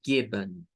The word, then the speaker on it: given: Y entonces la E, miren, se convierte en un schwa. Y lo vamos a pronunciar como given, given.